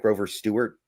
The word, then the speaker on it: Grover Stewart: Grover Stewart?